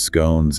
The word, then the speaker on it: scone: British, involving tea, sandwiches, scones, and cakes. And the guide makes that fun observation about the two common ways to pronounce scone rhymes with gone or rhymes with cone.